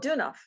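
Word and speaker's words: Deunov: you with me yeah but how do you pronounce his name oh dunoff do not do enough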